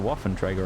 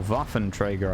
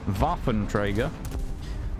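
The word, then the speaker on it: Waffenträger: our team there's a Waffen Trager right there he's dead or vafin Trager I suppose cuz you shouldn't pronounce the W in German name should you vaen Trager um these guys could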